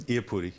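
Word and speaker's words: Iupati: Iapudi.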